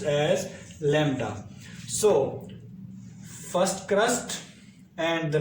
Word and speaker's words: lambda: represented by the symbol this and it is pronounced as lambda so first crust and the next crust is